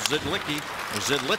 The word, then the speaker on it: Zidlicky: Zidlicky, as it's pronounced, to Henrique.